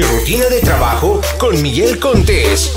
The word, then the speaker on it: Contés: Esto es Mi Rutina de Trabajo con Miguel Contés, con acento en la E.